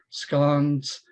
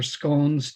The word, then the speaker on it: scone: In addition to the haggis, we have Scotch eggs, sausage rolls, oat cakes, scones or scones, depending on your pronunciation.